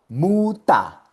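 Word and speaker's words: Mutter: Muta significa madre. Primera sílaba, mu. Última sílaba, ta. Y como el ER está en la última sílaba, por eso es que suena muta.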